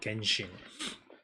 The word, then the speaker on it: Genshin: Chinese word original god but they used the gen uh the the Japanese pronunciation called Genshin.